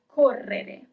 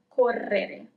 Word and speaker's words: correre: To run is correre, double R, correre. You see, it's a little bit longer over there where we have the double R, correre. Correre is to run.